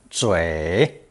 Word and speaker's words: 嘴: It's pronounced third tone, 嘴, 嘴.